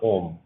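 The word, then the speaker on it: ohm: इसकी यूनिट होती है बच्चों ओम, ओम नमः शिवाय वाला ओम, ठीक है ना। वैसा ही इसका सेम प्रोनाउंसिएशन होता है, जैसे हमारा ओम नमः शिवाय का होता है, सेम वैसा ही प्रोनाउंसिएशन होता है इसका भी।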